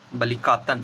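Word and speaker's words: Balikatan: Next है बलकाटन। तो इसका सही जो है कि वह है बलि काटन। बलकातन है काटन नहीं है।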